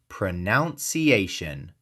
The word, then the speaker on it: pronunciation: They see pro-nun-ci-a-tion and their brain connects it to the verb pronounce. So they say pronunciation. But here's the thing. The noun drops that oun sound. It's pronunciation. 5 syllables. Stress on the 4th. None. Pronunciation. The middle is none, like the woman in a religious order. Not noun, like a person, place, or thing.